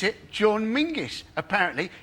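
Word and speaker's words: Menzies: bger it's a nonsense in fact you should pronounce it John mingis apparently it's to do with a defunct Scottish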